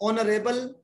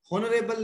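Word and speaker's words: honourable: तो ही इज an honest boy, क्योंकि आपा एच साइलेंट है, इन्हें होनेस्ट नहीं कहते, ऑनेस्ट कहने हैं, तो ऑनरेबल है, होनरेबल नहीं है, ये है।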